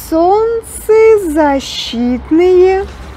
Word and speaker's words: солнцезащитные: Солнцезащитные. И is stressed, but since this word contains two words, we pronounce it with two stressed vowels.